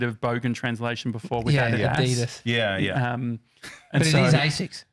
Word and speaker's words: Adidas: Well, it's only Americans say Adidas. It really is Adidas.